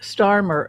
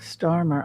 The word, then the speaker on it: Starmer: How do you think that Starmer, excuse me, Starmer, I better correct that. I've got an error here. So how do you think that differs from the United States, in the sense that Keir Starmer just walks out and